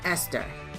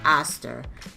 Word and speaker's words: ester: to cleave to an ester. Now, a lot of people are going to say, ester, what are you saying? I'm saying ester, not necessarily, or I should be pronouncing it aster, okay?